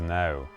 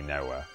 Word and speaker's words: Knowe: See, he says no. People who are part of the house say it right. Say it right! It's chowder! Whereas people from the village who don't know any better say Noah.